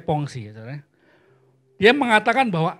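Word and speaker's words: Pensées: abad 17 membuat sebuah karya bernama pongsi ini bacanya pongsi Ya saudara dia mengatakan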